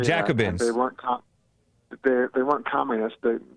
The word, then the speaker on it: Jacobins: The Jacobins, is how you say Jacobins.